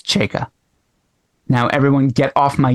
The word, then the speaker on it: Chayka: Yeah, Not Chakya. I didn't feel bad about people. You misled me on the pronunciation.